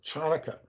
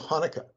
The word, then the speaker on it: Hanukkah: will mispronounce Hanukkah as chanukkah because there's a CH and you the C is silent so it's Hanukkah so if the sea